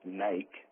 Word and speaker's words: Nike: It doesn't say Nike, which also should be pronounced Nike, right?